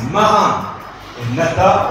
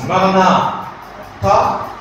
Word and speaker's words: Maranatha: Et si on le prononce Maranatha, alors ça veut dire viens Seigneur Jésus.